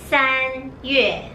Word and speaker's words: 三月: 三 When you pronounce 三 you need to close your teeth.